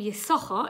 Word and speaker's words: Issachar: although we call him Issachar it's got two shins and one is silent because this it's a